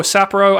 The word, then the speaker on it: Sapporo: Is it Sapporo or Sapporo? I need to get a handle on that pronunciation before the Olympics next year. Whoa, John, as a beer drinker, I'm kind of shocked you don't know that. Sapporo.